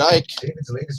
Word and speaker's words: Icke: David Icke, Conspiracy of the Lizard Illuminati.